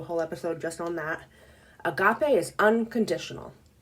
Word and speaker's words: agape: so sorry okay um the fourth one is agape I've heard it pronounced egap but that is not how I pronounce it she asked Lewis pronounces it egap but I pronounce it Agape that's how I've heard everyone else pronounce it